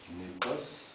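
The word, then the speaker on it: nepos: On a un nominatif népos, accentué sur la première syllabe.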